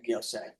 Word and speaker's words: Miosek: And is it Miosek or Miosek? Miosek. Miosek. You're right, Judge. I didn't know if that was a hard C or not.